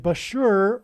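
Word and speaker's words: Bushehr: it will bomb the Bashur nuclear power plant and Bashur rhymes with Barker it is predicted that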